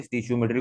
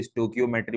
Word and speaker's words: stoichiometry: स्टीशियोमेट्री, कोई इसको स्टोकियोमेट्री बोलता है, कोई इसको स्टोइशियोमेट्री बोलता है। वो तो प्रोनाउंसिएशन जो भी कर लो, इंग्लिश थोड़ी पढ़ लें, हमें इसका कॉन्सेप्ट क्लियर होना चाहिए।